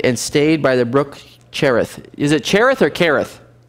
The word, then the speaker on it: Cherith: flows into the jordan cherith i think i'm pronouncing that right kerith i believe is how it's supposed to be pronounced and it will be